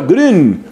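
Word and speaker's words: Grün: ediciones paulinas anselmo green grn pero esa uva con diéresis y es la uv alemana y se pronuncia green bueno pues sanz el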